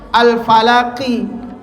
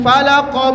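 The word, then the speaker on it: الفلق: dikasrahkan gara-gara bi akhirnya ngikut alfalaknya ngikut juga enggak mau misah alfalaqnya pun harus kasrah alfalaqi makanya enggak boleh orang tiba-tiba baca qul auzubirabbil falaqo min syarri maa khalaq enggak enggak boleh tapi bacanya kalau mau disambungl ma khalaq.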